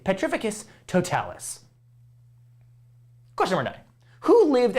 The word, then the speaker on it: Petrificus Totalis: that hit full on it's not frieza's corpus it's potificate petrificus totalis question number nine who